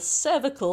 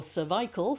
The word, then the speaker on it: cervical: Moving on up to the neck area, the cervical or cervical spine, if you're English, we tend to pronounce it that way.